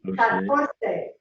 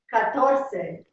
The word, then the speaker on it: catorce: Catorce. Yeah, the accent is right here on the TOR. Catorce.